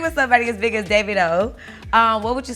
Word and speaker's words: Davido: name right because i feel like we all pronounce it dear friendly yeah well it's really david with all within david davido wow so the world don't know that nigeria